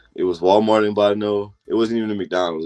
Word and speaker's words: Bottineau: So you end up attending Dakota College at Bottineau. Is that pronounced correctly?